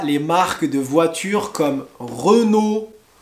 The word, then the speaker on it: Renault: françaises on a les marques de voitures comme renault peugeot citroën alors je répète re nos re noé pas renown renault peugeot et pas peu go peugeot peugeot et